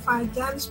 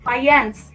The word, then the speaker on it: Fajans: Fajans ya. Jadi Fajans itu orang Polandia. Nah, kalau di Polandia dibacanya itu bukan Fajans ya, tapi Fajans ya.